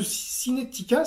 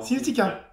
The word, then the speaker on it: Cinetica: On va y venir, mais je voulais qu'on parle un peu plus de Cinetica, c'est bien comme ça qu'on prononce. Exactement. Cinetica.